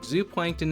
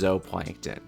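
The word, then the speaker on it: zooplankton: Fry feed off microscopic zup plankton in the water. What's that? Oh, sorry. Apparently, Zup plankton is actually pronounced zoplankton.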